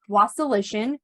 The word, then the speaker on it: Wasilishin: have a very special guest this is was solution which I hope I'm pronouncing that right you nailed it girl okay